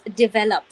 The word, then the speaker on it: develop: So the stress lies somewhere in between, right?